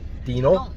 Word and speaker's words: Dinant: place called Dinant, or Dinant, or Dinant. Dinant. Silent T at the end, guys.